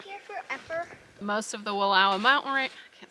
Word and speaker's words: Wallowa: So we are fairly confident that Wallowa is the right way to pronounce it.